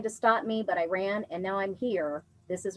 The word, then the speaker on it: Rana: Rana Choir, spelled R-A-N-A, I believe it's pronounced Rana, a group of Arab